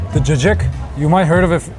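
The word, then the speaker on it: cacık: The jajjik. The jajik.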